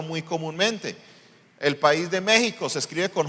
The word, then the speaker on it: México: comúnmente el país de México se escribe con j o con x con x pero se pronuncia con j haga el mismo intercambio